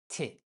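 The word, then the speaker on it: ت: The 4th letter, Te. The base and the writing are very similar to Be and Pe. What is the difference? For Te, like t in French, there are 2 dots above the letter.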